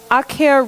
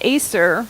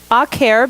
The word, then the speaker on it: Acer: botany if you know akhiya rubrum which most people pronounce Acer rubrum that's the red maple and it's awk hair because it's sharp you